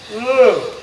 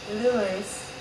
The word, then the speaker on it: Lou: Lou. It's not Louis. Because if you say Louis, they'll hear the syllables.